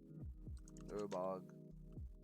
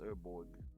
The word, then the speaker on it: Urborg: Urbog. Did I spell it wrong? Urborg. Oh, it's Urborg. Not Urbog. Urborg.